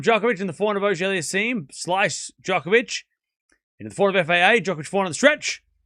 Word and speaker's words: Auger-Aliassime: How do you pronounce FAA's last name? Auger-Aliassime.